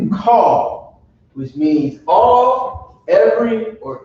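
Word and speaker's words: כל: So when you pronounce it call, which means all, every, or any, depending on the context that you read in the Bible, right?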